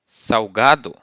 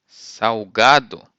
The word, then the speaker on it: salgado: you say sweet in Portuguese and then salty Salgado saugado come over salty in Portuguese Salgado next word